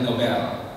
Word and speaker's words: Nobel: nobel and he says swedish and if he pronounced it correctly alfred nobel that's how his name was i albert noga